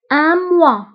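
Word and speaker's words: mois: اون سيمين شهر، اموا. اموا، فانتبهوا بالنسبه لاموا كنكتبوها باس اخر الكلمه ولكن لا تنطق.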